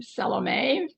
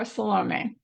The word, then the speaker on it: Salome: Salom, by the way, you could pronounce her name Salom, French or Salom. I think I'm more influenced by the Greek of the biblical text and so I say tend to say salom.